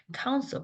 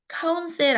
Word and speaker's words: counsel: counsel 발음 기호 보시면 counsel 아니고 counsel, counsel.